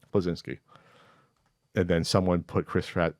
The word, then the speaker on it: Bleszinski: Bleszinski, is that how you say it? Mm-hmm. Bleszinski.